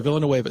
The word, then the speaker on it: Villanueva: you pronounce this less is it Villanueva is that how you pronounce it yeah Alejandro Villanueva so of course I